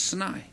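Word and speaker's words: Sinai: say say snai that's I try to pronounce it the Hebrew way which is snai okay and what happened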